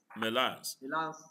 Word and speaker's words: Melans: Is it Melans? Have I pronounced it correctly? Yes. Melans. So let us take your presentation.